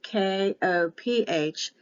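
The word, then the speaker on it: qoph: one is correct because the ph is an f sometimes they'll put a k so the king james version put k o p h it's supposed to be a q the 19th letter is a q sometimes the words will be written with the k o p h but it's supposed to be a q for the queen the woman the bride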